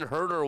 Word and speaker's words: Huerter: You cannot leave a guy named Kevin Herter wide open, or else he'll just hurt you. It's in his name. It's just spelled a little bit differently. It's spelled Huerter.